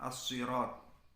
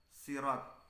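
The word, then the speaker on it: صراط: Bacaan yang dilakukan oleh jumhur ulama ialah as-sirat dengan memakai shad ya. Tetapi ada juga yang membaca sirat dengan memakai sin. Ada juga yang membacanya zirat dengan memakai zain atau za. Menurut Al-Fara ini berasal dari dialek Bani Udroh dan Bani Kalb. Akan tapi di Indonesia dan mayoritas di dunia itu menggunakan shad.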